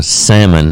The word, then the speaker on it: salmon: So Or some salmon. That is the actual pronunciation. Noel. There's no L in it. Oh, well. So I mean, there is an L, but you don't pronounce it.